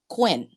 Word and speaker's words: Quyen: And if you look at my name, the letter was actually Quinn. So it's spelled Quyen.